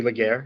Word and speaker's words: Laguerre: what do you do all right so legere is my name I always pronounce my name because you know most people